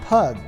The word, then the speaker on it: pygg: than they do today during the time of the saxons pygg would be pronounced pug but as the pronunciation